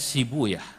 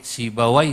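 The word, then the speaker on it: Sibawayh: Dalam satu lughat dibacanya sibuya, untuk menyesuaikan wazan. Sebab kalau pakai sibawai huna nggak ketemu wazannya. Maka saya pakai satu lughat yang membaca sibawai dengan sibuya.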